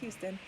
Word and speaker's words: Huston: like Anjelica Huston, sorry, I keep saying it wrong because I was so convinced. Still wrong, it's Huston.